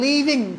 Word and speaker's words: leave: Okay, I एम लीविंग फॉर my college. Okay, I एम लीविंग फॉर my home. लीव, इसको थोड़ा लंबा stretch करना है इसको. ओके, वो लिव जाए, जल्दी पढ़ना उसको.